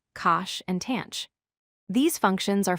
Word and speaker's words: cosh: Today, we are going to look at their hyperbolic cousins, pronounced sinh, cosh, and tanh.